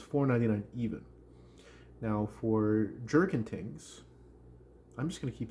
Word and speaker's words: Tings: cute my pronunciation here it is not things it is thingss so uh went there